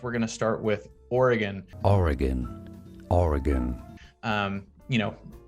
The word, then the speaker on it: Oregon: slight very you know variations of the correct pronunciation which is oregon so it's you know think about or o